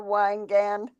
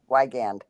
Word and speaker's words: Wygand: Wygand. Hi, Wygan. Yeah. I pronounced it wrong. I put an L in there for some. The I looked like an L for a second.